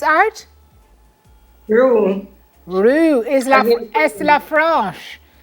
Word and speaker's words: Roux: pursue her natural talent and she created, you pronounce it for me, Shonda, Rook's art? Rue.